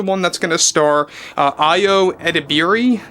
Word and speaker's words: Ayo Edebiri: that's going to star Ayo Edebiri, I believe is how you pronounce the actress's name.